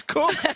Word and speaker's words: Cook: The correct way to pronounce Saskia's last name is Cook.